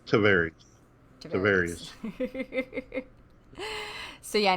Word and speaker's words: Tavares: store is in, I always say it wrong, Tavares? Tavares.